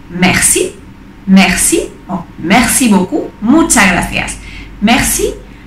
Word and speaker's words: merci: como si cosa ahora para decir gracias se dice mercy mercy máximo muchas gracias